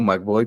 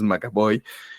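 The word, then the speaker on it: McAvoy: Cómo se llama macabo Siempre le digo mboy pero es macabo James macabo pues la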